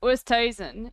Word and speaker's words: Oosthuizen: No, but the thing is, like, it's Oosthuizen. It's not Oosthuizen. Like, it's Oosthuizen. It's just people don't know how to pronounce it because it's an Afrikaans surname. It's Oosthuizen. There's no, like, it's like Oost, and then the thing is afterwards, yeah.